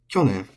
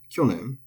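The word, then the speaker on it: 去年: Kyonen is atamadaka. It is head high. Kyonen. Good to remember. And it's not kyonen. Remember how I've been talking about these long syllables. It's not kyonen, but kyonen.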